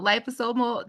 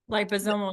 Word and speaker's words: liposomal: Liposal technology. Liposomal. Yeah, it's a mouthful.